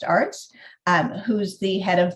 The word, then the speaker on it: Aerts: conversation our Arts it's pronounced Arts um who's the head